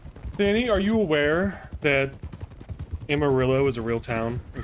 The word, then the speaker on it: Amarillo: So no, I'm not pronouncing it like Amarillo from GTA. I'm pronouncing it like Amarillo from Amarillo, Texas.